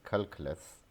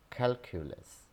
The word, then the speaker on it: calculus: Students pronounce this word as calculus. This is calculus, calculus, calculus.